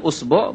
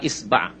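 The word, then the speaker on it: إصبع: ওয়াজআলু উসবুআইহি ফি উযনাইহি, উসবু বা ইসবা বা ইসবে বিভিন্ন ভাবে উচ্চারণ করা হয়েছে, আঙ্গুলকে বলা হয় ইসবা, ইসবাটা বেশি প্রসিদ্ধ।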